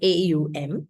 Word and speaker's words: Om: the m exercise it's if you transliterate om in English it's a as an a u u and M or M okay so Au m is how you say it and these are at